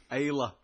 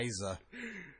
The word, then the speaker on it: Isla: Isla Dawn. Isla. Isla. Not Isa.